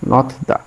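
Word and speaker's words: 놓다: হিউত যদি নিচে যায়, বাচ্চিমে যায়, তখন সেটি থ উচ্চারণ হবে। যেমন এটা আমি লিখলাম হচ্ছে ন, তারপর নিচে দিলাম হিউত, এবার হলো থ উচ্চারণ হবে, নথ নথ। হিউত হলো নথ, এর সাথে আমি দা লিখলাম, নথ দা।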